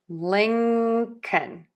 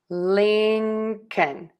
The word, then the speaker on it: Lincoln: Then we are going to add a K. k Tip of the tongue stays low. Air just puffs out of your mouth. Then we have the short uh the schwa uh and then end with an N. n Tip of the tongue is behind the top front teeth.